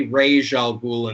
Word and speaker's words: Ra's al Ghul: al Ghul episodes, and I say Ra's al Ghul in this case because that's how the series that's how the series pronounces it.